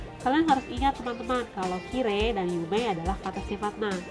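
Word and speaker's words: きれい: Oh, tidak bisa, karena Kirei dan Yume itu diucapkan Kire dan Yume, sehingga akhirannya tidak terdengar huruf i-nya, yang terdengar adalah huruf e.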